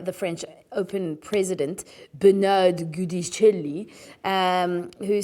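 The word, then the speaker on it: Giudicelli: Now, after competing at this year's French Open, a statement was released by the French Open president, Bernard Gudicelli, who said, and exactly in that accent, that's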